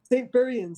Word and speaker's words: St Buryan: St Buryan Sessions.